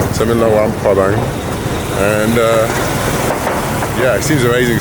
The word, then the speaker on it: Luang Prabang: Apparently you don't pronounce the R. So I'm in Luang Prabang.